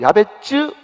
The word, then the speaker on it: 야베스: 이 야베스라고 하는 것이 오리지널 발음으로 야베츠, 그게 가깝습니다.